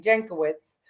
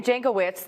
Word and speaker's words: Jankowicz: Jankowicz, who was the disinformation czar, the truth guru, and she was going to be monitoring all of our information.